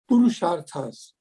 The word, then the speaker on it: Purusharthas: Or how do you pronounce it? Yeah. Purusharthas.